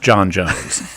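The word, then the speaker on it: J'onn J'onzz: right ja owns with two z's but it's pronounced jon jones right because he's martian so you need to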